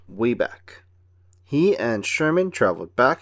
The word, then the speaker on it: Wabac: Peabody's inventions was a time machine called the Wabach, pronounced Wayback.